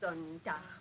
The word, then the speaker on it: Sonntag: Sonntag, Montag, Dienstag, Mittwoch, That is good. But pronounce the words broader, so Sonntag, Montag, Dienstag, yes?